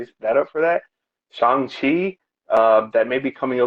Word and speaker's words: Shang-Chi: Is it it's like Shang, but the G is almost silent. okay, So it's like Shang-Chi.